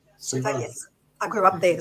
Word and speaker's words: Suva: I think that's how it's pronounced. Suva.